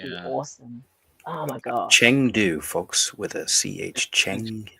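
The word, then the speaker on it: Chengdu: there that would be awesome oh my God Chang do folks with a CH Chang do yeah there are plane that flies directly from up on today it's actually pronounced chungu by the way oh thank you right yeah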